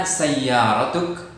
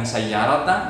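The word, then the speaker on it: سيارةُ: Ya, sayyaratu, bukan sayyarata, bukan sayyarati harakatnya.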